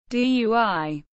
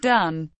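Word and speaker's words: 錞: Dui, not pronounced dun.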